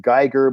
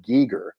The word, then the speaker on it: Giger: paintings of h.r gieger which most people pronounced geiger but he pronounced it geeger anyway and that all